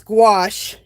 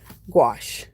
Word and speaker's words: gouache: angie spell the paint okay the word is gouache you know let me i can do better than that too um gouache is spelled g o u a c h e